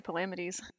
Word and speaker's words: Palamedes: debates on my TikTok page about if it's Palamedes or Palamedes, so like I cannot possibly judge. I'm just sitting here. I say it the second way, Palamedes. I say Palamedes.